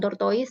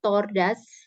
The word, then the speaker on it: tortoise: Ya, ini bacanya bukan tortoise tapi a tortoise walks very slowly. Tortoise ya bacanya.